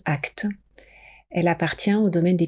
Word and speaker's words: ACT: quelques mots sur l'acte l'acte c'est la thérapie d'acceptation et d'engagement que l'on prononce actes elle appartient au domaine